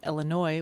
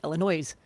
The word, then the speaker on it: Illinois: in the state of Illinois which happens to be spelled ending in an S and then we moved to Salt Lake City and note that most people out there pronounced it Illinois's right in demand des